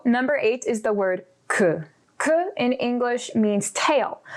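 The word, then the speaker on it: queue: really something so number eight is the word ku ku in english means tail but it also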